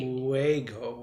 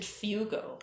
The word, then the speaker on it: fuego: Fuego. Yeah. I don't speak any other languages. The U is before the E though. This should be Fuego. Yeah. What did I say? You said fugo.